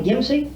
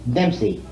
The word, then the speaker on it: Dempsey: Lottie Gimsey? Dempsey. Dempsey. Oh, Dempsey. Dempsey. Just spelled like Jack Dempsey. Yeah. She's new, D-E-M-P-S-E-Y.